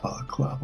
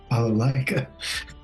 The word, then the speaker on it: balalaika: So in my journeys, I was learning my balaclava, not balaclava, what is it? Balalaika. Balalika. Yes. Nailed it. We don't know how to pronounce it.